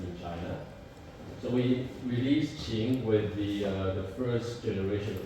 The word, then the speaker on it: Qin: Come to 2013, BYD launched Qing. So, how do you pronounce this word? Q-I-N? King. So, actually pronounced Qing.